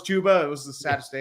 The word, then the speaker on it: Chuba: It's like saying you think Chuba Hubbard is pronounced Chubba Hubbard, and Oh, then when yeah. I found out it was Chuba, it was the saddest day of my life.